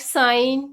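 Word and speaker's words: sign: next word इस साइलेंट जी एन से पहले जी साइलेंट रहता है लाइक साइन डिज़ाइन इन सब में एन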